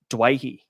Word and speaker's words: Dewey: same last name, and culturally you're supposed to pronounce it Dwayhe. That's how you're supposed to pronounce it, but the dad pronounces it Dewey.